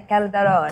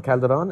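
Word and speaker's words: Calderone: Tell me about this alter ego, Joe Calderon? Yeah, Calderon. Calderon? Yes. And O-N-E, like one, Calderon?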